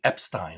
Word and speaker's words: Epstein: earlier they kept saying Epstein and I'm like what who says that my wife's like well it's like the German pronunciation I'm like yeah but